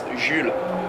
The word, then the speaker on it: Jules: It's Jules. Oh, It's just Jules. You don't pronounce the S. It's like Jules Verne, Jules Verne.